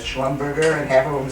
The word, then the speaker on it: Schlumberger: Look, I got now more than 800 shares of Schlumberger. Very funny company. And you know what? When I came and said, when it came out, it's pronounced Schlumberger, but it's Schlumberger.